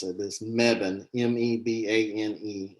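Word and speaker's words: Mebane: before you know people don't know how to pronounce it this megan m-e-b-a-n-e it's this tiny little town but it's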